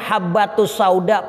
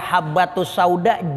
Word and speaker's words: habbatussauda: kesalahan hot imlai Hai kudunya bacanya habbatussauda pakai bak yang titiknya Atuk kitabnya remang-remang itu titik dikitab itu kayak ada dua jadi bacaannya alhayatu saudara syifaun minkuli dan Hai kudunya dibaca habbatussauda jinten hitam ginten ini obat